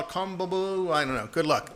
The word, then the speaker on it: CONMEBOL: I think they call it Conmebol. I don't know. Good luck. Good luck trying to pronounce how they say that. Conmebol, is that what they call it? That Conmebol, yeah.